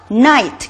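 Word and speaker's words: knight: 또 WR 같은 건 대표적인 묵음입니다. 이거는 knee, 그죠? night, K-N-I-G-H-T 그런 night.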